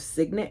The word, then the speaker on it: signet: Some sort of signet ring, S-I-G-N-E-T. Alexa, how do you pronounce S-I-G-N-E-T?